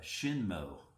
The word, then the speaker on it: Hsienmo: Um but I came across um this brand of guitar and it's called a uh ShinMo and it's spelled Hi EMO, I believe.